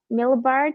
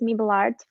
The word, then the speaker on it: Mabel Art: to create the pronunciation because you said uh millbart and it's mabel art i've been doing that